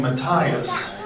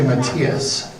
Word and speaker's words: Matias: I went a whole year pronouncing her last name Matthias before someone said it's actually Matthias, and so she and I still joke about that.